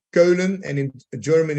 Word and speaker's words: Keulen: Cologne, because in Holland we say Keulen, and in German it's Köln.